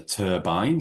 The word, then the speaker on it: turbine: It's a turbine, yep. And just a word on pronunciation, it's a hard I there, turbine rather than turbine.